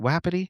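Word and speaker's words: Wapiti: Wappity. Wet. Wapeti.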